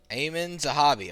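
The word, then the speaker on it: Aiemann Zahabi: Ayman Zahabi. Okay, thank you. Alright. I'm happy. Thank you. Anyway. Ayman Zahabi versus Marlon Chito Vera.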